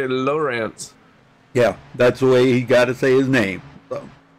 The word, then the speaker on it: Lowrance: And yes, that's how you say his name, Lowrance.